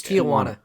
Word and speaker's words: Tijuana: It's Tijuana. I don't care. Unfortunately, you get on my case about pronunciations.